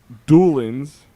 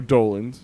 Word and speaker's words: Dolans: Doolins, or Dolans, if you want to say it right.